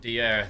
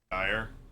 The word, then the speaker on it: Dier: Eric Dier. That's gonna be. Dyer. No, it's Dier. That's how it's actually pronounced. Portuguese. Well, he was born in Portugal.